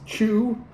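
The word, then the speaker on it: 曲: And the sorghum is mixed with something they call, I want to say it's pronounced chew. That's not going to be 100% correct, but it's basically a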